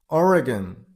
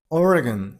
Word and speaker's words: Oregon: Oregon. Oregon. You got a stress on a person level. I mean or Oregon. Oregon.